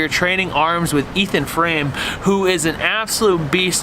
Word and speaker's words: Frame: It is Frame, right? Yeah, right? Like, no crazy pronunciation. It's not like my name. Like picture frame.